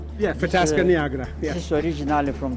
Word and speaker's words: Fetească neagră: Fetească neagră. Yes, exactly. That's what I was going to say. Yeah, Fetească neagră.